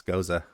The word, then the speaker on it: gose: I mean, that's a great name too, because then you don't mispronounce Goza. No, right. You know how it's supposed to be pronounced. So that's awesome. Exactly. Not Goze, it's Goza.